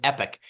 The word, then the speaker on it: Epoch: last year s solved at their Christmas party Epoch versus epic yeah it it is epic H you pronounced it correctly it's like Comm uh it's